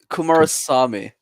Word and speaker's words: Kumarasamy: No, you're not close. It's Kumarasamy. I was Kumarasamy. That makes more sense.